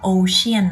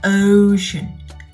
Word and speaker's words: ocean: จริง ๆ แล้ว คำ นี้ ไม่ ได้ ออก เสียง ว่า Ocean นะ คะ หาก เรา ออก เสียง ตาม หลัก IPA เนี่ย คำ นี้ จะ ต้อง ออก เสียง ว่า Ocean Ocean ให้ ทุก คน ดู